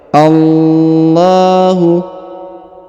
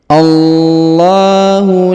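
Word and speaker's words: الله: a-nya langsung masukkan ke lafaz Allah Ya Allahu dipanjangkan dua harakat ya karena terdapat Alif kecil di sini Allahu la kemudian huruf la dipanjangkan lima harakat karena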